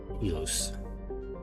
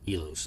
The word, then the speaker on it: Ilos: It's pronounced Ilos, not Elos.